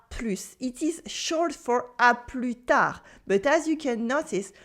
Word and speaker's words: à plus tard: We also have à plus tard, which is see you later. À plus tard with a silent S and a silent D.